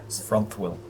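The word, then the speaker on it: Frunthwill: well what else uh it's m-e-g-a-r-d and it's front wheel it's f r u yeah f-r-u-n-t-h-w-i-l-l thank you Memphis will f-r-u-n-t-h-w-i-l-l front wheel yep absolutely feel the need to take his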